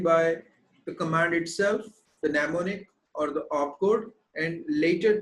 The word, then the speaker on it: mnemonic: commands of assembly language m n e m o n i c this m is silent mnemonic all right and this